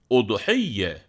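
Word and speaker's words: أضحية: de hareke ile gösterelim udhiye telaffuz bir nebze zor gibi görünen bu sözcük vezin ce bir başka Arapça sözcükle karşılaştırılabilir eğlenti ve Eğlencenin akşam yapılanı anlamına gelen ums siye kelimesi gibi bir okunuşu var bunun bir kez daha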